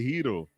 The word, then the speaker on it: gyro: The hero. It's spelled gyro.